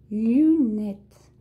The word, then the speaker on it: lunette: Une monture, elle fait partie de la lunette. Donc, une monture, elle a fait partie de la lunette. Lunette. Ok? Aqui o né a gente é pronunciado, tá? Para lunette.